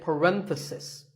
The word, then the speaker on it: parenthesis: If you talk about just one bracket, you say parenthesis. The stress is on ren.